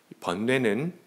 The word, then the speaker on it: 번뇌: 발음 잘못하면 이게 벌레 이렇게 생각할 텐데 마음이 정말 벌레, 마음벌레.